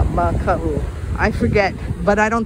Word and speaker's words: Maka'u: This M-A-K-A glottal stop U spelling means to be afraid, and there could be a kako, a macron above the A. Maka'u.